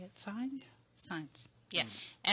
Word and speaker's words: Saenz: I think that's how you say it, Saenz? Saenz. Yeah, Saens.